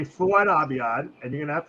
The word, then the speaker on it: Abiad: Okay, but it's Fouad. Fouad Abiad. Abiad. I thought it was Abid. Okay, Fouad Abiad.